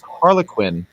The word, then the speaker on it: Harlequin: The way that you pronounce Harlequin is interesting because you pronounce it like the fictional character Harley Quinn.